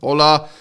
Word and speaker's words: hola: hola all right awesome hola the H is silent that's great is to